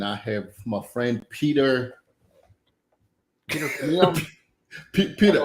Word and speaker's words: Chmiel: There's a Peter, lot of consonants in my name. Chmiel. It's a Polish descent. I'm sure when we got off the boat, it was like Chmiel. How to spell that? So it came out as CHM.